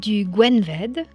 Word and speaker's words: Gwenved: ça qui s'écrit A B R E D Gwenved qui s'écrit GW E N W E D et